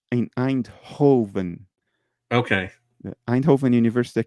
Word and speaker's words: Eindhoven: How do you spell that? Eindhoven, EIND of data.